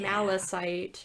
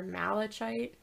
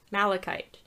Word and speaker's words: malachite: paint called coal and green malasite or malachite malasite malachite malachite powder as eye makeup which